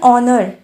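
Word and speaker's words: honor: इस्तेमाल हुआ है क्योंकि जब हम ओनर बोलते हैं तो यहां पर प्रनंसीएशन में हा नहीं ए रहा है हा साइलेंट हो जा रहा है और ओ निकाल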